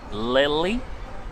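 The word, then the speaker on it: Lille: train from dunkirk to lilly i think it's how it's pronounced lil and from lily to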